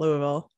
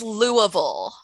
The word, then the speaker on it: Louisville: i hear a lot of good things about louisville whereas not the rest of that state yeah pronounce the name of the city for us because so it's louisville yeah you say uh you don't say louisville